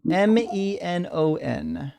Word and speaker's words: Menon: Spell it. Murli, Murli Menon. Spell Menon. Is it Mennon? Menon.